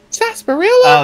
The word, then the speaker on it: sarsaparilla: Sarah apparel what pasparilla Sarsaparilla Sarsaparilla oh so the r is uh the r is silent yeah that's probably French